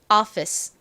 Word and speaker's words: office: 발음해 보면 Office가 됩니다 Office이 단어는 발음을 하실 때 앞쪽에 힘을 빡 줘서 발음을 해 주셔야 됩니다 따라해 보세요 office 한 번 더 해